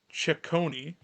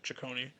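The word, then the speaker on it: Cecconi: By Gavin Williams, Slade Chonei is apparently how you say it. Chicone and uh Joey Cantillo, Parker Messik.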